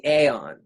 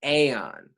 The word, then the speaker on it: Aeon: so accessible is the aeon it's spelt o n but it's the same as the word eon e o n and